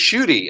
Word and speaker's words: Schuette: prudence we have and it's pronounced shy right shy rhymes with duty I don't laugh but the guy the attorney general of Michigan his Twitter handle is actually shy on duty so you're sick it's the other one not that duty but Um, it's pronounced shudy and the name of